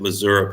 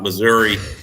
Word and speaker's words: Missouri: but Missouri has been please pronounce it Missouri people not Missouri um Missouri has been